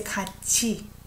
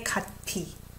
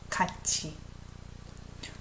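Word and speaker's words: 같이: co-captain panjang napadas Mita I pronounce it as a catchy we don't say cut T its CH sound catchy what's the main verb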